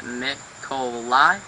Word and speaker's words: Nikolai: Hey, I'm Nikolai, and you pronounce it Mikolai.